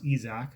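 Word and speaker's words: Isaac: tarik school izak paredes he has to pronounce izak i didn't know that until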